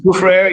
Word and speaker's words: Soufrière: The volcano, what is called Soufrière, I hope I'm pronouncing it right. Yeah, Soufrière, you got it.